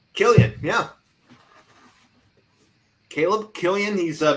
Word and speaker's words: Killian: Killian, yeah.